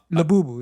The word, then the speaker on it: Labubu: It's labubu. I Like, it's spelled like it sounds. La bubu.